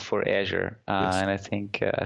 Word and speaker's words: Azure: right because this technology I've I call Azure based on the color at least the pronunciation o over here. I've heard Asia I've had heard Azour.